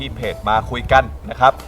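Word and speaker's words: Makyguns: มา ได้ ที่ เพจ มา คุย กัน นะ ครับ m a ky g u n s ครับ อ่าน ว่า มา คุย กัน ด้วย อ วัน นี้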